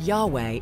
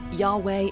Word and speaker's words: Yahweh: scripture they are in actual translations or even pronunciations the word Yahweh is a good example of that Yahweh is God it's the god of the Jews